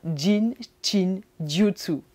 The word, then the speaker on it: Jin Shin Jyutsu: Jein chin jutsu ? Il faut déjà bien le prononcer. Alors le jean c'est comme le pantalon le jean et ça ça signifie